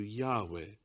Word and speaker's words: Yahweh: Some scholars feel that the original pronunciation was closer to Yahweh rather than Jehovah.